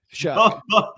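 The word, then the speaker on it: Shough: You can always just remember it rhymes with fuck. Shuck.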